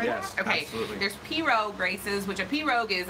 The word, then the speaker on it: pirogue: There's pirogue races, which a pirogue is a boat.